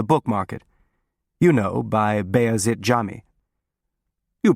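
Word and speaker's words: Beyazıt Camii: You know, by Bea Jami. You pronounce it correctly. The C is tricky for foreigners.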